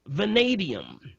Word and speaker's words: vanadium: Next one is vanadium. Vanadium. And that's spelled V as in Victor, A-N-A-D as in David, I-U-M.